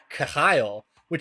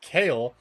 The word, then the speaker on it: Khayal: i'm shaking my head the pronunciation of that genie is the khayalwhich is how i was going to pronounce it in the video and then i found like three separate pronunciation guides that told me it was kale and i was like that seems wrong but like if three